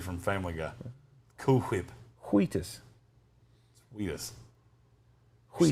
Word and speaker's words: Wheatus: Wheatus? What's wrong with the way I say Wheatus? Why are you putting so much emphasis on the H? Wheatus. You sound like Stewie from Family Guy. Cool Whip. Wheatus.